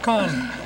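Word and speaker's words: Cannes: is correct okay might have a little different pronunciation but we'll accept that okay con that's five points Four Little Falls question number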